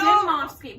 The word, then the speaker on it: Dimovski: Dimovski.